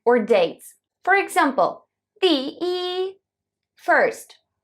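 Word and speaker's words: 一: Chinese were e one we used to pronouncing e with the first tone however did you know that e can be with the second and four Stones as well how does it work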